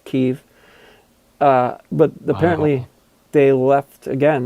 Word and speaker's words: Kiev: I'm not going to pronounce it the way the Ruskies pronounce it. It's Kiev.